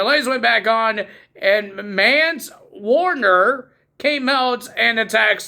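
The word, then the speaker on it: Mance: wait this long for mans Warner I I want to call him man but it's mans it's freaking M an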